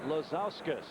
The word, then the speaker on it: Lazauskas: Lazauskas from Munster, Indiana is our contestant. You making that up? No. L-A-Z-A. Is it spelled like it sounds? It's like Ilgauskas, but with a Lazau in front of it.